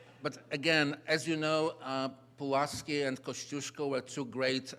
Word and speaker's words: Pułaski: Mayor mentioned already Tadeusz Kościuszko, and great pronunciation, thank you so much, and Kazimierz Pułaski and Kazimierz Pułaski. Let me just come out with this real Polish pronunciation.